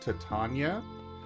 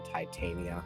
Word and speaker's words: Titania: It's pronounced Tatana and yes uh Tatana is a very common uh thing in folklore. Uh she is generally the queen of the summer court. Just to clarify, it is actually Titania in Warframe because she's made of metal.